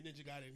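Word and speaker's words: Ninja Gaiden: Uh, is that how you pronounce it? Yeah, Ninja Giden.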